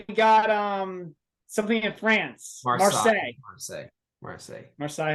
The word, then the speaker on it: Marseille: Marseille, how you say it.